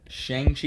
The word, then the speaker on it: Shang-Chi: Shang-Chi and the Ten Rings? Shang-Chi is actually how it's pronounced.